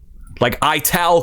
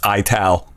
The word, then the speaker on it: Ital: wordal which means okay it's pronounced ital. So if this is true and not AI like like no this if that's how it's pronounced I'm I'm stupid. My whole life I pronounced it Ital.